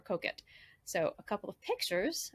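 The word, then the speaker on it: Coquet: says the river and it looks like cocaine but it's the river cook it so if you're in england and you go to work with pronounced at the river koket so a couple of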